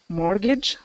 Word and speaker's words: mortgage: Mortgage. Yeah, exactly. So there's Mortgage. that j Okay. sound at the end, just like language.